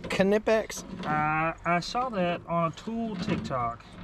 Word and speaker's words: Knipex: You know that it's pronounced Knipex?